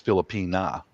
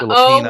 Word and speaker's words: Filipina: the proper way to say it for a female is Filipina. Oh, okay. Because they were a colony of Spain for about 300 years. So Yeah, Filipina, O would be male and for A male,